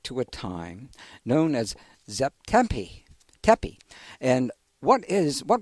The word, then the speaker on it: Zep Tepi: Egyptian and of course we don't really know exactly how they pronounced it but we say Zep tepi as the sort of